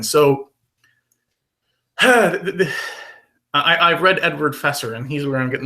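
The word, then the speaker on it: Feser: good I'm sorry Ed Edward fesser is is or phaser is probably a better way to pronounce it is a Scholastic Scholastic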